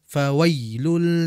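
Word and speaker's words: فويل: enjoy ya tidak dihentak jangan kita membacanya fawailul Lil tidak akan tapi dengan menaikkan Tengah lidah pelan-pelan fawailu fawailu fawailul nah dijelaskan ya-nya dalam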